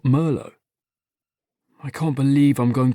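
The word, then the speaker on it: Merlot: it was weird that you pronounce the T in Met but not Merlo.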